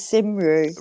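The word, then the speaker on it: Cymru: yeah like and Wales is is Cy which is spelled c y muu which is simru right right c y r but they pronounce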